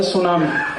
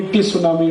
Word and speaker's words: tsunami: अंग्रेजी में एक शब्द है सुनामी, कैसे लिखते हैं? TSUNAMI। बोलते क्यों नहीं टी सुनामी, टी सुनामी, टी सुनामी? कहते हैं जी टी साइलेंट है तो लगाया क्यों, हटा दो उसको।